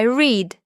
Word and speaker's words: read: Important note, the verb read is spelled the same in the present and the past, but the sound changes. Today I read. Yesterday I read like the color red.